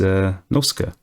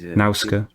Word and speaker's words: Nausicaa: over the landscape, and actually the person is Nausicaa. I say Nausicaa. How would you pronounce it? Yeah, I think it's Nausicaa.